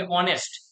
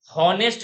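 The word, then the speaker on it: honest: हॉनेस्ट नहीं होता है, ऑनेस्ट।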